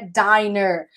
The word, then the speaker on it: diner: Com um N só, a pronúncia é diner.